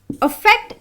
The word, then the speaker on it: affect: Affect is pronounced using a small sound called a.